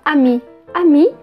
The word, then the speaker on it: amie: A gente não pronuncia esse e, então, ami, ami.